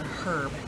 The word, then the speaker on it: herb: my harvest so or curb we don't pronounce the H here in the United States but but anyway so